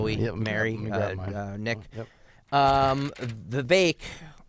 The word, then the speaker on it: Vivek: a second shall we marry uh Nick um the bake rhymes with cake Rama Swami was on with Alex